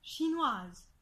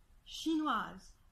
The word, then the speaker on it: chinoise: va se passer et que la consonne devient pour avancer alors que le e du féminin demeure muet et je vais donner